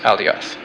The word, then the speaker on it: Alioth: Leo's brightest star is pronounced Regulusa, and Ursa Major's brightest star is pronounced Alioth.